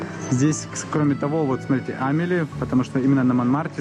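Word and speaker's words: Amélie: Я думаю, вы знаете, здесь, кроме того, вот смотрите, Амели, потому что именно на Манмармарте снимали фильм Амели, если вы видели, или Амили, как правильно произносится.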